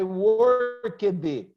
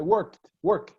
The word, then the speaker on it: worked: You don't say I worked it. That's terrible English. I worked.